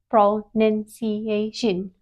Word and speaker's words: pronunciation: No, it is pronunciation.